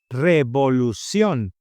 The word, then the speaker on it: Revolución: Practicing this word where the accent goes. It goes in the last O. Revolución.